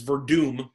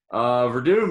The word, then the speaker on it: Werdum: There's a W in there, and you pronounce it as if it's a V. That's not really your fault. You try. All right, that's all that fair enough. Verdum is the prohibitive favorite